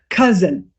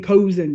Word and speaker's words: cousin: Cousin. So my I was the students I was with, they were saying kosen.